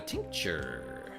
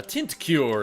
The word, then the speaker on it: tincture: Ooh, I got a tincture. A tint cure is how I used to pronounce that, because I had never heard the word out loud.